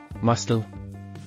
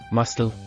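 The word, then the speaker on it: muscle: ಮಸ್ಟಲ್, ಮಾಂಸಕೋಶ. Silent letter C. ಮಸ್ಟಲ್.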